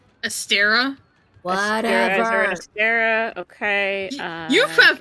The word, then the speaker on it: Astera: Yep, we're in Astra. Astera? Whatever. Astera, okay. You have pronounced so many things so oddly to me.